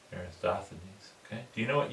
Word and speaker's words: Eratosthenes: Eratosthenes. Eratosthenes.